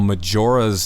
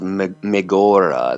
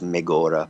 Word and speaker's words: Megora: on a band called Majora's album Illusions. How did you get hooked up with those guys? Yeah, I'm sorry, it's pronounced Megora. They say they're Swiss guys, Megora.